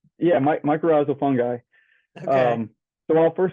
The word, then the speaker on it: mycorrhizal: And can you correct me on that pronunciation? Yeah, mycorrhizal fungi.